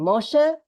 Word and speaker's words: Moshe: you can see here a silent hey silent letter hey uh with the sound of an a Moshe it's like Moses it's the Hebrew name